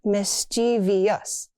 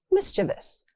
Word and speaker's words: mischievous: People add an extra syllable. Not mischievous. It's mischievous. That cat is mischievous.